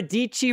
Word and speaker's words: Dici: Let's go ahead and jump over to my screen real quick here, where I've got the one and only Sara Dici rhymes with Peachy announcing Lab 22.